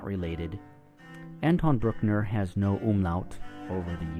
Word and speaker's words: Bruckner: His name, to some of you, might resemble that of Anton Bruckner's name, who was an Austrian composer known for his long symphonies. However, it is different. They are not related. Anton Bruckner has no umlaut over the U, so it